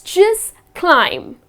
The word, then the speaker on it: climb: So it’s just climb. Again you are not gonna pronounce the last B here, it’s not gonna be climb.